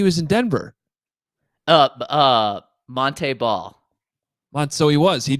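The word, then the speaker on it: Montee: senior year he's like no actually my name's Monte Monte ball you guys are pronouncing it wrong this entire time and I'm like well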